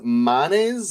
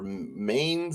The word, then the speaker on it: Manes: uh tonight yet um Norway's manes or Mains if you want to mispronounce it manes yeah under blue red